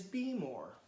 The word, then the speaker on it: Behmor: doing some research and heard the pronunciation be more and Baelor but after having the roaster in my hands I've decided it is be more I would imagine to